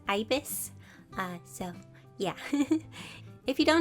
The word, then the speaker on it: ibis: i'm saying it right many of you said abyss paint wasn't correct and that it's ibis so yeah if you